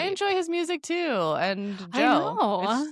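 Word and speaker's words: DJO: It's just pronounced Joe.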